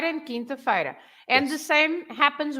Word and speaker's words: quinta-feira: but then we say quinta-feira, right? Ah, good So example. Okay. quarta-feira, because Yeah. we pronounce the Q-U-A, Yes. but we don't pronounce the Q-U in quinta-feira. Well, that's a So- really